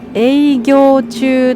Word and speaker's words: 営業中: ですけど、これは営業中と読みます。